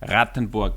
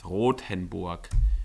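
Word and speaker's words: Rothenburg: feel like you're walking in movie he he pronounces it like rattenborg which means like red Castle but that's not how I pronounce it's roen it's one of the most preserved medieval old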